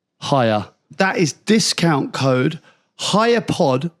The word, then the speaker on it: Haier: You spell it like this, Chris. HAIER. Hire.